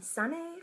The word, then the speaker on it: Sanne: already know me I'm sunny from San adopt I oh it's pronounced like sunny outside but with an Ian